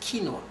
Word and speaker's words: quinoa: of us will call it kinoa but it's pronounced kinoa wow it's very good grain you cook it